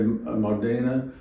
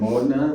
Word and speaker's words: Modena: They all come from the Americans say Modena. Right. It's Modena, which is much prettier.